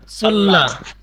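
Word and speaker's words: 설날: কি হইছে এবার সল্লাল সল্লাল কেন সল্লাল হইছে এই যে রিউলের পরে নিউন আসছে দেখছেন স্যার এই রিউলের পরে নিউন আসছে এই যে রিউলের পরে নিউন আসলে লয়াল উচ্চারণ হবে এখানে উচ্চারণ হবে সল্লাল উচ্চারণ কি সল্লাল সল্লাল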